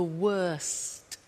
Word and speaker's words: worst: The superlative is the worst. Notice the T. Bad, worse, the worst. Don't forget to pronounce the T.